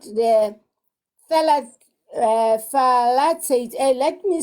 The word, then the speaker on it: phthalate: That skin, it comes with the chemical called the phthalate. Let me spell it.